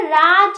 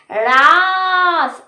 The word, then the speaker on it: Raaz: কিন্তু এখন মানে মুভিটা দেখার অনেকদিন পরে আমি বুঝতে পেরেছি এটা রাজ নয়। এটার মুভিটার আসল উচ্চারণ হচ্ছে রাস।